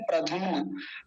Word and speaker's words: प्रद्युम्न: कुछ लोग इनका प्रोनाउंसिएशन गलत करते हैं, मतलब इनका उच्चारण इस नाम का, नीचे वाले का क्या बोलते हैं? प्रधुम्न, प्रधुम्न, धुम्न नहीं द्युम्न, ये जो अक्षर बना रहा हूँ इसको दिया बोलते हैं।